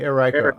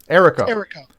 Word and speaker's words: Eriko: Okay, well, when you join us, you can say Eriko. I'm not sure how to say it. Join us. Eriko. Eriko. Okay, like Jericho.